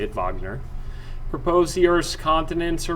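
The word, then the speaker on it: Wegener: um alfred wagner all right it was a german scientist that's actually how to say it wagner proposed the earth's continents are moving around the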